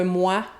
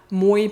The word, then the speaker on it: moé: C'est d'ailleurs le même trait qui nous donne « mouais », donc au lieu de « moi », « mouais » puis « toué », qui dit un peu plus tard dans la publicité.